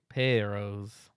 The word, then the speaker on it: Amores perros: Amores, perros. So you just rolled your R's a little bit. You got to roll those R's. Also, you did hit it with the perros. Perros.